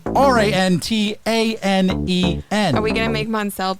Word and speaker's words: Rantanen: It is Rantanen. Mikko I wasn't that far off. Rantanen. She was actually pretty close. Rantatantan was not the right way to pronounce it. But there's a n in there.